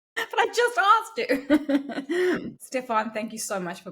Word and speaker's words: Stephan: Stephen, thank you. No, I have to start again because I said your name wrong.